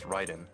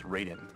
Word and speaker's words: Raiden: there's voice acting so they know it's Ryden MH but most people when they see Ryden written they think it's Raiden Raiden and so like